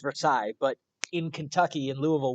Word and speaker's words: Versailles: because this is the Palace of Versailles it's pronounced Versailles but in Kentucky and Louisville where they're from